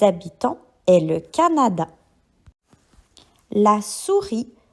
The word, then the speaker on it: souris: La souris L a la s ou r i. Souris. Pour ce mot, la lettre muette se trouve à la fin et c'est le S.